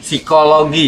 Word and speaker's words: psikologi: Jadi psikologi. Psikologi dibacanya psikologi.